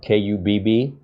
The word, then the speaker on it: Kubb: And it's not cube and it's not cub. It's Kubb, like tube, Kubb.